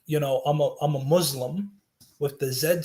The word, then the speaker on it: Muslim: so like for instance when you say um you know i'm a muslim you're supposed to pronounce it with like an s as opposed to like a zed because that changes the meaning completely sorry if you can't